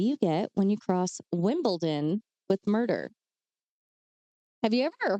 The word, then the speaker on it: Wimbledon: Isn't there a T in there? Wimbledon? No. It's Wimbledon, but I just feel like I'm mumbling when I say it like that.